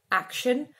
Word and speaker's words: action: In this case, it is spelled with an SH, shine, but we could find this sound in words with a different spelling. For example, in action, action. In that case, we have a CT.